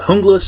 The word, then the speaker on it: Junglas: the name fool you even though it's called hungus and it's that's a Spanish pronunciation for a group of people uh Commandos